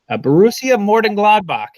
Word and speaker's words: Borussia Mönchengladbach: So let's go ahead and move on to our next team, and our next team is Borussia Mönchengladbach.